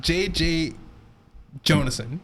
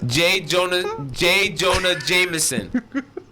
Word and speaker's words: J. Jonah Jameson: But, yeah, J.J. Jonason. No. Yo, and I could honestly tell that you did not mean to say that. Like, you were trying so hard to say it right, and you still said it wrong. Yeah. J. Jonah Jameson.